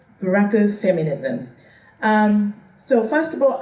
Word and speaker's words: Buraku: It's not black, the pronunciation is Buraku. Buraku feminism.